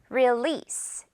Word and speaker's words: release: release. S로 끝내 주세요. 듣고 따라해 주세요. release. 자, 그리고 this 할 때는 할 때는 입을 양옆으로 좀 찢어서요. 이소 발음입니다. release가 아니라 release 이렇게 길게 늘어뜨리면서 one more time release.